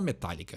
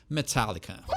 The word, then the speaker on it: Metallica: Então tem esse fechadinho no ar aí que a gente não fala, né? A gente fala Metallica, né? Mas quer pronunciar certo, quer impressionar os teus amigos, ou quer que todo mundo te ache um pomposo, um fresco, Metallica.